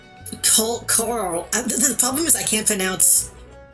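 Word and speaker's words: Coeurl: It's pronounced more like coral. The problem is I can't pronounce. I have rhoticism. I can't pronounce all R's very easily anyway. Cur. I'm gonna say cull.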